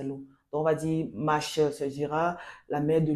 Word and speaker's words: Mache: Maché, bon, ça c'est la prononciation en français. En langue maternelle, je suis de l'Ouest Cameroun, Bamendjo, on dit Mache.